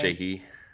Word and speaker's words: Sheehy: Sheehy.